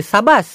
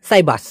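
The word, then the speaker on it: sabas: এবার হচ্ছে সাবাস, এস এ বি এস, উচ্চারণটা হবে সাবাস, সাবাস। অনেক সময় ওরা এস ওয়াই দিয়ে দেয়, সাইবাস এরকমও বলে।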